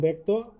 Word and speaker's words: ব্যক্ত: 1 নম্বর যে নিয়মটি আছে সেটি হচ্ছে আদ্যবর্ণে জ ফলা যুক্ত হলে বর্ণটি অকারান্ত বা আকারান্ত হলে এর উচ্চারণ এর মতো হয়। যেমন ব্যক্ত, তোমরা লক্ষ্য করো ব্যক্ত কিভাবে হয়েছে, ব্যক্ত হয়ে গেছে আদ্যবর্ণে জ ফলা যুক্ত হলে।